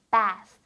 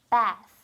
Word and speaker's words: bath: bath. 여러분 우리가 아까 했던 단어처럼 bath. 사운드가 날 때는 혀가 꼭 보여야 된다는 거. bath. 이렇게 발음을 해주면 되겠죠.